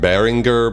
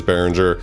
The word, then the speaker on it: Behringer: the 2600 by behringer really i should pronounce it baringer but whatever everybody says behringer it's a recreation of